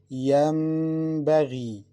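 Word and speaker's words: ينبغي: Listen, Yam, Yambaghi. We must pronounce it Meme with Ghunna.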